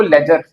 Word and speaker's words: ledger: लेजर। डी इसमें भी क्या है? साइलेंट। डी और जी को हम ज बोल देते हैं। तो लेजर बन जाता है।